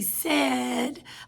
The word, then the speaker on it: said: as a i d normally when we have ai that would make the a say its name but we don't say s we say said like a short e sound so that's what makes